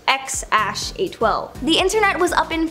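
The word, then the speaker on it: X Æ A-12: is X something or apparently it's pronounced x812 the internet was Up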